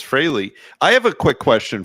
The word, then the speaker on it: Frehley: on this show kids it's not fre yeah it's Frey I know I don't even know where that came from I think freely just sounds more common but yeah it's Frey I have a quick